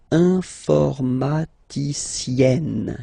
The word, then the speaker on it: informaticienne: Okay, and you get the sound informaticienne, sienne. Remember, E and then double N, or then it could be double L or double consonant here. You open your E, so it's E, informaticienne.